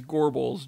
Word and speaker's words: Gorbals: want to point out it is gorble's g-o-r-b-a-l-s it is not a girl's vampire this that is a